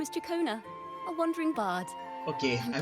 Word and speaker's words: Ciaccona: My name is Chakona, a wandering bard. Okay, I pronounce it quite rightly.